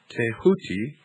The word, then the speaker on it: Thoth: Egyptians as the ibis-headed scribe of the gods Thoth, pronounced Tehuti.